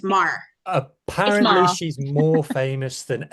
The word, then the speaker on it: Maher: Mar. No, I just looked it up. It's Mar.